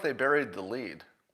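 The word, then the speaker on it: lede: And I feel like they buried the lead. Lead is spelled L-E-D-E, if you didn't know that.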